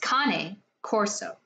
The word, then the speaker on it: Cane Corso: It is pronounced Cane Corso.